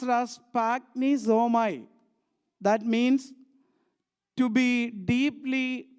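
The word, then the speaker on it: σπλαγχνίζομαι: So the Greek word spagnisomai, it pronounced as spagnisomai.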